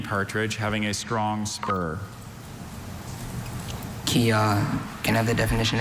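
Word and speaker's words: kyah: Kia.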